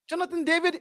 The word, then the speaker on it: Jonathan David: get him get him Happ get him happen Jonathan David that's how you pronounce his name by the way and I'll